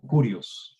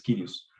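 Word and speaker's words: κύριος: Kyrios, o se puede pronunciar como Kurios también. Más agradable es Kyrios, más correctamente es Kyrios.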